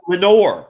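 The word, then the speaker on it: Laenor: you refering to referring to how do you pronounce that oh Lenor Lenor valaran yes Lenor Len yeah who I actually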